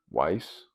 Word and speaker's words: Ys: It's spelled Y-S. Weiss? Yeah, but we call it Wii's.